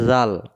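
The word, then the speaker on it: ذال: June যেহেতু এটা জাল কোরআন শরীফে যত জায়গায় জাল পাওয়া যাবে জাল অক্ষরটাকে জিহ্বার আগা থেকে নরম করে পড়তে হবে জুন জালজের জি জি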